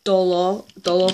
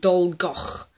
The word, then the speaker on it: Dolgoch: You are meant to be saying dolgoch. Dolgoch. Dolgoch. I know that last part is hard. The kh.